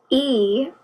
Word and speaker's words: equinox: Equinox is pronounced E-qua-nox.